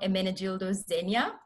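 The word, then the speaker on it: Ermenegildo Zegna: some people have heard of this brand called emenegildo zegna so that's how it's pronounced and spelled over there um but when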